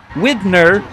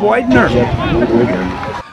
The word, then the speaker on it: Widener: stadium public address announcer pronounces his name with a short eye Widner instead of whitener the Jeff whitener scramble